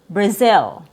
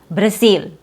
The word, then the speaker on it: Brazil: Our next example is Brazil. Brazil. It has a Z sound before your short e sound. A misprononunciation would be saying Brazil. Brazil, which has a very tense vowel sound.